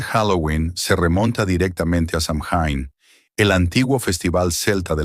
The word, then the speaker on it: Samhain: los druidas, celebraban la fiesta del Samin pronunciado Swin, literal del gaélico fin del verano, para pedir por una buena cosecha el año entrante.